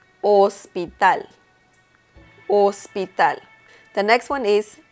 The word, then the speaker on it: hospital: Hospital in Spanish is hospital. So once again, the letter H in Spanish is mute. So you will say hospital, hospital.